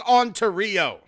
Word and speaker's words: Ontario: actually I really like Ontario um yeah it's pronounced Ontario Ontario Canada we're Americans and we'll tell you